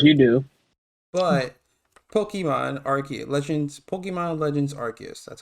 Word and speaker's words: Arceus: But Pokemon Legends Arceus, that's how you say it, came out recently.